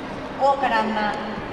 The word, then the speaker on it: 桜花乱咲: はい、大からんま桜花乱れ咲くと書いて大からんまと読みます。